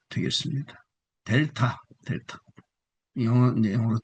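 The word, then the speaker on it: δέλτα: 델타 영어 이제 영어로 D 발음이죠. 델타포스 할 때 델타.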